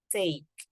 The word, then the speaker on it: take: So there's a swinging in the middle, take, okay? You don't say take. This is the common habit for Indonesian. We tend to say, I take. Oh, that actually doesn't sound right for native speakers.